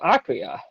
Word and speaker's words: Akira: You say Akira or Akira? It is pronounced Akira.